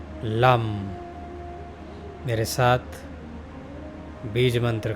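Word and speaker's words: लं: lump L ए M lump मेरे साथ बीज मंत्र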